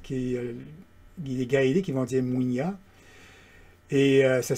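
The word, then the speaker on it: muinia: Et on va utiliser la mutation Mouinia chez les Guadéliques, les Gaéliques, ils vont dire Mouinia. Et ça s'écrit avec M-U-I-N-I-A.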